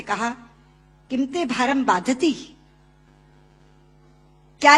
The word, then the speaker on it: बाधते: मुंह से बोला हुआ बाधती शब्द कष्ट दे रहा है, क्योंकि बाधती शब्द का अशुद्ध उच्चारण आपने किया है। ये शब्द बाधते होना चाहिए। भारम न बाधती राजन यथा बाधती बाधते।